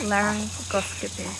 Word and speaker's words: laryngoscopy: So there is something called a laryngoscopy. No, and you're saying it wrong. It's laryngoscopy.